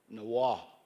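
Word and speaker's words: Niwot: As you guys know it, Niawat, but there is a Arapaho word for Niawat. Can somebody help me? Nawa is the true way to say his name.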